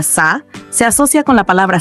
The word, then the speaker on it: 사: El 4, que se pronuncia Sa, se asocia con la palabra sarang, que significa amor.